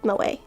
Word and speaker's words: Moe: It's in English, but like how they pronounce things is different, which is why Moe was Moe and not Mo. Which is what it would have been if her name were English, or like if she were English.